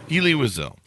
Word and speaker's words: Elie Wiesel: Do I have that right on the pronunciation? Elie Wiesel. Elie Wiesel.